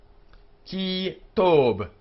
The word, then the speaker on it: ki tob: Ki tob, ki tob. The B is hard. It's not aspirated.